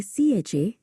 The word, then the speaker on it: CHA: देखो किरत, सीएचए का मतलब होता है कस्टम्स हाउस एजेंट, और इसे सीएचए ऐसे इंडिविजुअल लेटर्स में प्रोनाउंस करते हैं, समझे?